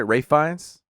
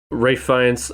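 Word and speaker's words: Ralph Fiennes: his name wrong guys isn't it ray finds not ralph ray france i may have said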